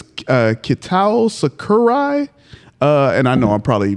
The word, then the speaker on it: Sakurai: so I apologize, but I think it's Kitao Sakurai. And I know I probably messed up the pronunciation, but it might be pronounced Sakurai, but you're there we go. You're good. You're there. Say that again. Sakurai.